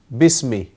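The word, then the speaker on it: بسم: with how do you say with a name bismi okay bism that's how you say bismi because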